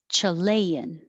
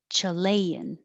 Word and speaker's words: Chilean: sound 13 13 23 chilean chilean and this is the ah the vowel is ah so you have to